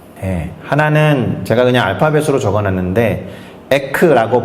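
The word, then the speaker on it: ἐκ: 하나는 제가 그냥 알파벳으로 적어놨는데 에크라고 발음하는 것이고, 또 다른 하나는 에이스라고 발음하는 거예요.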